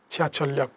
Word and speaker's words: 지하철역: এখানে নিচে একটা রিউল আসবে, উপর একটা রিউল যাবে, কি হবে? 지하철역।